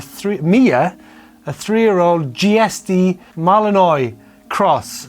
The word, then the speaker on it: malinois: is actually a three mia a three-year-old gsd malinois cross how did you pronounce that no idea i think i was a good joey how did you pronounce i sorry m a l i n o i s malinois malinois a malinois cross bit confused about